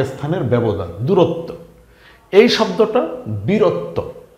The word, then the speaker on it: বীরত্ব: স্থান থেকে আরেক স্থানের ব্যবধান দূরত্ব এই শব্দটা বীরত্ব ব দীর্ঘ ইকার বি র ত বফলা বীরত্ব এখানেও কিন্তু সেম ত এর নিচে বফলা আসাতে ত এর ডাবল উচ্চারণ হয়েছে বীরত্ব এই শব্দটা কি ঘনত্ব ঘ